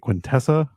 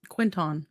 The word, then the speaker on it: Quinton: But if you guys are near is it Quintessa, or how do you pronounce that? Quinton.